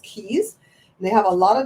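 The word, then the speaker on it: cayes: C A ye s differ but it's still pronounced keys they have a lot of them and the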